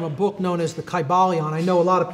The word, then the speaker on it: Kybalion: It would have been a long I sound, Kybalion, and every syllable would have been pronounced.